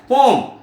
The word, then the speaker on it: poem: और एक बात है, जो हम पोएम प्रोनाउंस कर रहे हैं उसका एग्जैक्ट प्रोनाउंसिएशन पोएम नहीं है, क्या है, पोम, POEM, ई साइलेंस होगा, पोम बोलेंगे, ध्यान देना।